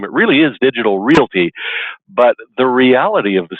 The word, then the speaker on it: Realty: into that they're probably a lot of folks that say digital reality instead of digital Realty when they look at your name it really is digital Realty but the reality of